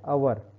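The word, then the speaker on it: hour: देखिए एन अवर, प्रोनाउंसिएशन हवर नहीं किया मैंने, हवर है कि नहीं, अ हो गया प्रोनाउंसिएशन.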